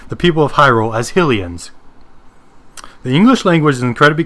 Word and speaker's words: Hylian: In the English language, in general, when the word ends in E, the vowels make a long sound.